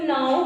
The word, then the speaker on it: know: नो, के अभी कुछ बच्चे मैं क्लास में पढ़ा रही थी, कोई क्लास में, तो इसको नाउ कुछ पढ़ते हैं, पता नहीं कौन सा कनाउ कुछ पढ़ते हैं।